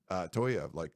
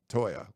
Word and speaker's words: Toia: The Jay Toia thing, I was telling people no, David said that's not how it's pronounced. Toia, not Toya, but it was always Toya before.